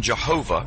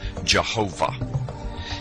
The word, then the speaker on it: Jehovah: It originated with the early German translators of the Hebrew language and their sounds, thus the more Germanic sound of Jehovah.